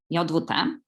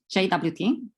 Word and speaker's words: JWT: As a native Polish speaker, I pronounce it as JWT. In English, I usually hear the pronunciation as JWT, but the RFC suggests the same pronunciation as the English word jot.